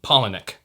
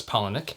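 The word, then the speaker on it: Palahniuk: this by chuck um there are many many pronunciations of his last name um pollinic i'm going to pronounce it as polynek and you can correct me if i'm wrong so this book came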